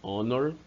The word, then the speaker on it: honor: Segunda regra, palavras iniciadas com H que tenha um som mudo. É diferente, quer dizer, o H não é pronunciado. Você só escreve a palavra com a letra H, mas não a pronuncia.